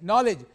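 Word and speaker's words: knowledge: आपने जब आरंभ किया तो नोबिलिटी की बात की थी आपने, नॉलेज, यस, हाँ, तो इसमें के साइलेंट है, नॉलेज।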